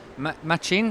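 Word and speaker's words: Matxin: Machin, that's how you pronounce it, right?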